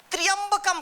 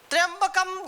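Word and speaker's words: त्र्यंबकम्: WhatsApp जानते हैं त्रयंबक कहीं-कहीं उच्चारण में लोग गड़बड़ी करते हैं ट्राइंब कम कहानी बोलते हैं जब यहां त्रयंबक त्रयंबकम त्रयंबकम यजामहे अब इसको हम एक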